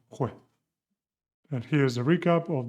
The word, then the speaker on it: juez: And you also have the sound G como Juan with the J. J followed by A, O, and U, like cirujana, Jose, and juez.